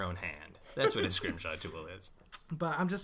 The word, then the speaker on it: Scrimshaw: So, I got a lot of scrim and it's it's exactly it's spelled exactly as it's pronounced. It's Scrimshot. S R I M S H A W.